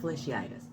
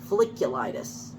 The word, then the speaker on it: folliculitis: there was such a thing google hot tub feliciatus i said i'm probably pronouncing it wrong folliculitis ah yes the primary suit of hot tub